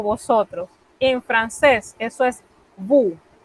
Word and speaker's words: vous: En francés, eso es vous. Noten que nuevamente me he comido la S. Esa S no se pronuncia a menos que haya un caso especial.